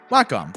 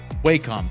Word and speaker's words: Wacom: one drawing tablet company Wacom or Wacom depending on who you ask even official employees seem to not know the company's pronunciation anyway Wacom made industry-leading